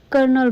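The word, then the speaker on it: colonel: आप इसे कर्नल बोलते हो लेकिन इसमें आर है ही नहीं। इसकी स्पेलिंग है कोलोनल।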